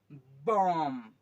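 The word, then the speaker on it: bomb: है इसमें कौन सा लेटर आपका यह है साइलेंट है ये वाली भी है आपका सालें इसको बोते बम बम बम ओके ओ ए बी ये जो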